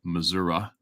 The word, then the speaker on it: Missouri: email me in how to pronounce words Beach Missouri Missouri missoui first time I ever hunted in the US was Missouri but everybody called it Missoura and I sck get this one and it's